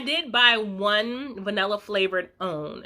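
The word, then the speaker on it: Owyn: that anymore i did buy one vanilla flavored own it's spelled o-w-y-n um from whole foods so i'm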